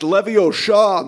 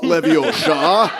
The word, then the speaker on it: Leviosa: It's pronounced Leviosa, not Leviosa.